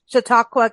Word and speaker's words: Chautauqua: name right now am I going to get shiaka County right or am I doing it wrong no you said it perfect um shiaka it has a wonderful spelling I think it's